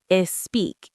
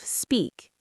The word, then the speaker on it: speak: Like saying is speak instead of speak. Oh, adding a vowel before the S.